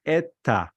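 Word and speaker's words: ήτα: have it in Greek in Greek pronounced ETA ETA ETA in Greek because all the modern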